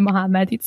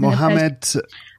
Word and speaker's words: Mohammadi: It was his name, Feridun Mohammad. It's a bit difficult in English to pronounce it in an English way. I said it Mohammed. What? Mohammadi is his surname.